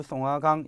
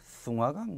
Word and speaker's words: 송화강: 이 부여라고 하는 나라는 위치는 만주, 송화강 이렇게 되어 있고요. 보통 송화강, 송화강, 숭화강 뭐 이런 식으로 중국식 발음을 쓰기도 해요.